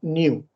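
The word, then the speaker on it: knew: genio o kennet listo acá solo vas a pronunciar la n Y esa ew suena como you o sea va a sonar New listo entonces Bueno vamos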